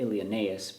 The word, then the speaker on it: Ilioneus: We would normally say it Ilioneus, but Vergil wants you to take that E and the U together as one syllable, as a diphthong. Ilioneus placido.